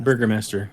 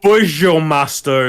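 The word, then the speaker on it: Burgomaster: I'm sure there's a proper way to pronounce it, but I I'm I'm pronouncing it the way I'm reading it. No, it's quite literally it's quite literally I should be like bour master or some stupid like that. I I Googled it. It's literally burger master. Okay. Burger master. So the I you not. It's burger master.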